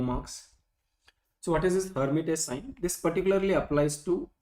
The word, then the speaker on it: Lhermitte: We write it with an L, but L is silent, so we don't pronounce it as Lhermitte sign.